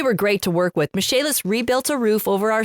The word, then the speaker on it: Michaelis: Michaelis rebuilt a roof over our sunroom and a